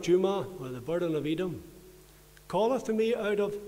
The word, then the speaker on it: Edom: You'll find it in your Bible, and it's spelled E-D-O-M, Edom.